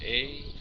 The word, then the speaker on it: Aenis: And the guy's name is, I don't know how else you pronounce it, Aenis, spelled A-E-N-I-S. Yes, I said Aenis.